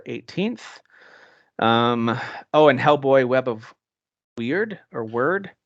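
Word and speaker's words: Wyrd: I think I saw a demo and I was like, we're pronouncing it Word, and I'm like, yeah, then you shouldn't spell it that way.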